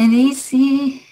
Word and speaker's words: essay: I am writing an essay for my English course. تلفظش کورس هست. Essay. اینو با ایزی اشتباه نگیرید.